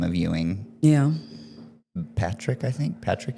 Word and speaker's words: Ewing: So my uh Facebook is and my Instagram handle is Yuing8 Euing. Yuing. I'm going to spell it C H A D E W I N G88.